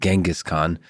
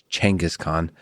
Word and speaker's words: Genghis Khan: I've most of my life said Genghis Khan but uh the right pronunciation is uh actually Genghis Khan.